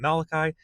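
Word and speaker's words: Malachy: I'm really not sure how to pronounce his name properly. I know some people call him Malachi. I like calling him Maliki.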